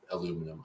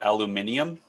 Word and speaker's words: aluminium: should be available in aluminum, I believe. For macOS, we'll call that aluminium. Yes. Yeah. Sure. It's too many syllables.